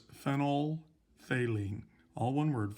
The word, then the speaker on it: phenolphthalein: And it's not pronounced phenolphthalein. That pH in the middle is silent. So it's phenolphthalein. All one word, phenolphthalein.